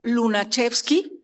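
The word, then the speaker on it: Lunacharski: Rivera fue invitado por Lunachevski, así se pronuncia bien difícil.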